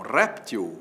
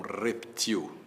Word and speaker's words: réptil: O jacaré é um réptil ou é um reptil? Você vai dizer que é um réptil, que é a forma mais usada. Pois é, se ele for um réptil, acento agudo, réptil é paroxítona que termina em L, mas saiba que o jacaré também pode ser um reptil, oxítona, reptil, sem acento, portanto, reptil como barril, né?